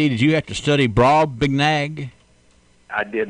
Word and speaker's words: Brobdingnag: you have to study Brobdingnag I did not I had to practice saying it no it's it's brob de nag Brobdingnag Brobdingnag actually I got online